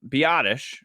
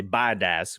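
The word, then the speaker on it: Biadasz: They're like, yeah, we love Biadish, the new center out of Wisconsin. But actually, no, they say Biadaz because Jerry and Stephen Jones have no idea how to say his name.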